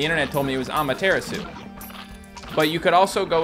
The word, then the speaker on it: Amaterasu: it wrong or something i used to call it a mataratsu i like the mataratsu and people were like that's not how you say that and i looked it